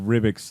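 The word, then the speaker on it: Ribić: Jason Aaron and Esad Ribic's like, how do you say it again? it's Ribic. Ribic.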